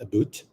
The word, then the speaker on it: about: share with you um sometimes they pronounce the word a b o u t is aboot yeah if you want to go extreme yes yeah aboot kind of weird Canadian way of pronouncing wow Canadian English is